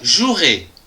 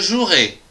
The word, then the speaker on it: jouerai: du verbe jouer je jouerai attention ici il y a un e qu'on ne prononce pas demain je jouerai demain tu joueras demain